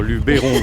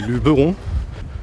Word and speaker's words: Luberon: Je sais déjà qu'il ne faut pas dire Luberon mais Luberon. Le E ne se prononce pas en provençal, le E se prononce E.